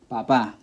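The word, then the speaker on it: papá: unnatural stress ok cancer Papa Papa which means dad should be rule 1 because it ends with a vowel but the pronunciation is on the last where it should be on the second-to-last and there's a good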